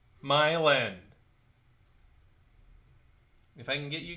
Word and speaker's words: Milan: out that's near us it's m-i-l-a-n m-i-l-a-n yeah like the town Milan no it's pronounced Milan my land if I can get